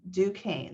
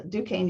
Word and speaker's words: Duquesne: It's a French word, so Duquesne University.